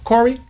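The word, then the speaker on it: Khouri: name is Andrew, and his last name is spelled K-H-O-U-R-I. Corey, Andrew Corey.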